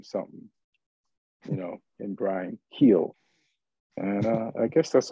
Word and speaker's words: Gil: Brian Gill I don't they say heel or Gill Hill yeah heal even though it's spelled with a G like he's been on